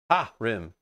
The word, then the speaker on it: harem: It's ha rim, not ha rem.